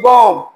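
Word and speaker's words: bomb: बी ओ एम बी। अब एम भी जहां भी आएगा तो यहां पर बम बी की जो है साउंड साइलेंट होगी। बम तो इस तरह बेशुमार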